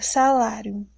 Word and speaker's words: salário: Exemplo, na palavra salário. Salário, eu tenho o som aberto. O acento fica em qual sílaba? No lá. Salário, lá, é o acento agudo.